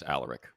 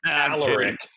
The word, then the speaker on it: Alaric: I think it's Alaric, but, you know. I've always said Alaric. Everybody in the building says Alaric.